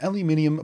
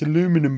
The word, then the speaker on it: aluminum: Nasser are making an aluminium balloon well except it's NASA which is the American Space Agency so of course we should pronounce it how they will pronounce it there which is one of